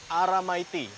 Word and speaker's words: aramaiti: They say it like this, aramaiti.